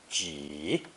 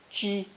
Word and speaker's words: 几: It's pronounced either a third tone ji, ji, or first tone ji, ji, with slightly different meanings.